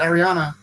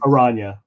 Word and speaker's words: Aranya: What is it, Ariana? Is that how you say it again? Aranya. Aranya. Yes, that's it.